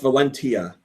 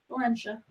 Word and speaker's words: Valentia: BWA says, yeah, hard T, but I don't like that pronunciation. Shadows of Valentia. Who says it like that? Valentia? Come on. Valencia.